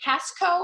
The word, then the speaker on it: Casco: Is it Casco? Am I saying it correctly? It's C-A-S-C-O.